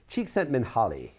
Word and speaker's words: Csíkszentmihályi: And yes, I believe that's pronounced Csíkszentmihályi.